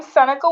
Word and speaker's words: Seneca: called Seneca that's a good question so I'm Seneca sometimes people confuse it for Serena